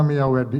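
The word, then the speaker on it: Myawaddy: Untuk lokasi sendiri itu ada di kalau tulisannya Mia Wadi gitu bacanya Miawadi ya.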